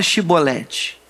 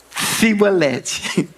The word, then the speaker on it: chibolete: Não fala chibolete. Aí eles falavam fibolede.